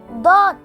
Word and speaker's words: ض: the inner side of the lower teeth, making DAWD sound.